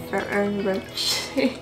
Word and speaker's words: Ferrero Rocher: The Ferrero Rocher. Ferrero Rocher? Ferrero Rocher.